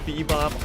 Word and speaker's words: B-Boop: And for those of you wondering if we are able to read or not, I know it is spelt B-Boop, but they say it is pronounced Bebop, so you just gotta trust us with it.